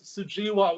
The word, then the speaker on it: Sujewa: My own name, it's Sujewa with a long E.